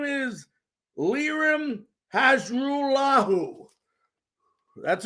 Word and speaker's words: Hajrulahu: His name is Lirim Hajrulahu. That's right, Hajrulahu.